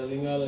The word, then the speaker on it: Lingala: Yeah, Lingala is how you say it.